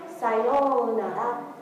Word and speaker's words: sayonara: Make sure that you don't pronounce it like "sayonara," what's his name from Xenosaga? Yeah, don't do it like that. Sayonara.